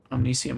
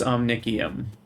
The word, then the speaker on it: Omnicium: And add this on top of the Omnicium I'm already making. Or Omni-KEY-um, I'm sorry, I'm pronouncing it wrong. I was told it's Omni-KEY-um. I just keep thinking the C is a soft C.